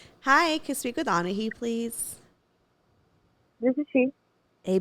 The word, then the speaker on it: Anahi: Anahi? Anai.